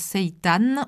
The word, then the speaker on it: seitan: vous pourrez donc utiliser du seitan qui s'écrit s i t a n que certains prononcent seitan aussi qui est une protéine